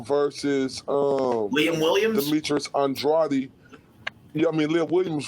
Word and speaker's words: Andrade: name on an interview you better say it right it's andrade so i'm sorry as